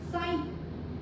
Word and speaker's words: 사인: 자, 얘는 사인이라고 읽어 얘들아. 신이 아니야? 사인.